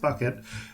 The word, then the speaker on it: bouquet: he the bucket uh apparently spelled bouquet pronounced bucket uh that you have